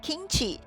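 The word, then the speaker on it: 김치: 韩文的泡菜就念 kimchi。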